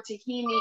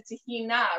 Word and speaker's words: tahini: It's actually the reason why the pronunciation for tahini in the States is tahini as opposed to tahina, right? The Arabic pronunciation. It's because Greek culture and Greek cuisine was so much more popular in the States before Israeli and Middle Eastern cuisine took off. And they brought tahini over, and that's how they pronounce it, tahini.